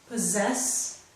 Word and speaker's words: possess: Please notice in these words, and this one in particular, possess, the first two s's make the z sound, so I have underlined them, But the second two S's do not make the Z sound.